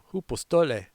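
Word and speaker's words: hypostolē: So we're going to Greek out on this phrase shrink back, pronounced hypostole, meaning withdrawal, retreat, pulling back under pressure.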